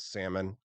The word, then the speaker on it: salmon: there anything worse than someone who pronounces the L and salmon let me know I'd